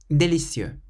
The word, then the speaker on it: délicieux: This is always the case in French. Emphasize the last syllable. Merci, merci. Délicieux, délicieux.